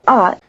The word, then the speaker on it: 啊: The unstressed syllable 啊， is added as a carrier of a rising tone which signals a question. You might consider the high-pitched syllable 啊， as a spoken question mark.